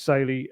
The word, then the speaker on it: Saily: All of those are occasions where I'll be able to use SY.